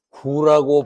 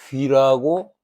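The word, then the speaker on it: 龜: 호가 구봉인데요 구자는 구라고 발음되기도 하고 귀라고 발음이 되기도 합니다. 그래서 거북를 말할 때는 귀 그래야 돼. 거북 귀. 근데이 글자가 가끔 사람 이름이거나 지명에 활용될 때가 있어. 그때는 구라고 있습니다.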